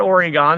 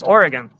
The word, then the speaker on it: Oregon: Lots of people say that, and some people want to call it Oregon, and it's not Oregon, it's Oregon.